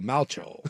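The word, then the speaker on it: Malchow: They're saying it's uh pronounced like the replacements quarterback Shane Falco. So, Malacho, that is fantastic.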